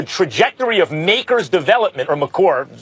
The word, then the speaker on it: Maker: is because the trajectory of Maker's development, or McCorr, correct pronunciation, is not going quite like in a linear way up.